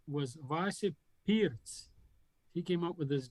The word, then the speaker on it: Pirc: states and most europe it's known as perk defense but it's not really perk it's actually pierce huh it's the grand